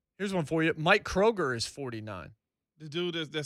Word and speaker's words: Kroger: Kroger, you think of 2 things. The store Grocery store that people mispronounce Kroger's. with an S.